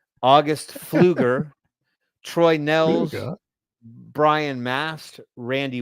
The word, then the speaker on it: Pfluger: I believe the P is silent. August Pfluger, Troy Nels, Brian Mast, Randy Weber, Marionette Miller Meeks.